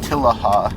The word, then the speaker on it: Matilija: up and down it maaha if you're if you're curious that's how the that's how the locals pronounce it but yeah as I